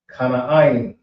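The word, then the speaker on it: כנען: Next we have is Canaan, which is pronounced K, Na, Ain. Kana Ain.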